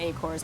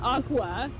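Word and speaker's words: Aqours: It's pronounced Aqua. Is it really? It's pronounced Aqua, but I don't know how there was a reach, but it's okay. They can do that.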